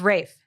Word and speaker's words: Ralph: Oh, it's It's pronounced Rafe. Yeah, it's like Rafe.